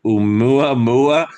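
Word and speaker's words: ʻOumuamua: I can't pronounce this word. Oumuamua, Yeah, Yeah, and the yeah.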